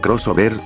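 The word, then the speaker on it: Xover: Mega Man Shover, pronunciado crossover, fue un RPG social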